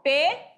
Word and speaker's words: pneu: Ó, P-N-E-U, pneu. Eu vou separar pneu, fica pneu. Assim, eu não posso deixar isso aqui, P, depois neu. Isso aqui é errado, não pode, tá certo?